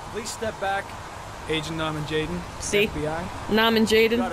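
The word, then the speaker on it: Norman Jayden: So the reason I said Nuh-min Jaydun is because of the way he pronounces his own name. Please step back. Agent Nuh-min Jaydun.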